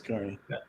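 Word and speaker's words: Kearney: big towns I dve is it Carney or is it Kerney am I saying it right Carney car it's Carney in Wisconsin a Carney is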